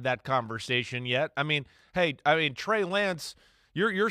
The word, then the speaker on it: Lance: I mean, Trey Lance, you're saying it right.